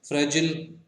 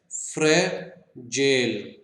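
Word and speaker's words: fragile: फ्रेजिल, अब देखिए फ्रेजिल मुंह से निकला, जबकि एक्चुअल में इसकी प्रोनाउंसिएशन क्या है, फ्रेजेल, फ्रेजेल, ना कि फ्रेजिल, फ्रेजेल।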